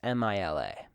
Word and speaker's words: Mila: Mila. I have trouble pronouncing this name. It's Mila. Sounds too much like MLA format.